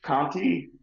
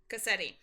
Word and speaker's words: Cassetti: Ratchet was uh Kanti or Ketti? I can't pronounce that name. I'm sorry. You're fine. Cassetti.